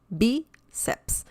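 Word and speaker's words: bíceps: that's an exception and if the stress is on the second to last syllable then it needs an accent mark b ceps biceps okay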